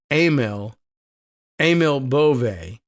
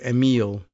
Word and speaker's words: Emil Bove: I think I heard the pronunciation of his name the other day as Emil Bove, as opposed to Emile for whatever reason.